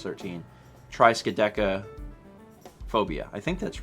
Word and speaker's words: triskaidekaphobia: Triskaidekaphobia. Triskaideka. Oh, it's Deca would be 10. Yeah. So tri is 3 and Deca is 10, which is why it's 13. Triskaidekaphobia. I think that's right. Triskaidekaphobia.